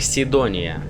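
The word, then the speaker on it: Cydonia: Кидония в оригинале звучит и произносится как Сидония.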